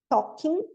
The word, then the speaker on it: talking: De novo a gente não pronuncia esse L, talking, with a big smile, com um grande sorriso.